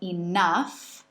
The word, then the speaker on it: enough: news gates de webcams en este caso el gh suena similar a la letra a y termina con una f fuerte otros ejemplos con la misma pronunciación son enough que significa suficiente y lo que significa rugoso o difícil entre otras ok lewis pero creo